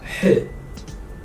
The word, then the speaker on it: ح: Without any dots, this is H. H. This is not H, this is H. But if you can't pronounce H, you can just say H, it's fine.